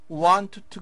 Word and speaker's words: want to: Want to go. 그런데 T가 두 개 있기 때문에 한 번만 발음됩니다.